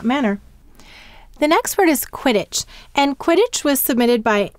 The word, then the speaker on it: Quidditch: So how many syllables in Quidditch? Two. And the first syllable, sound it out with me, is quid, qu, I, d. And the second syllable is ditch, d, I, t, ch.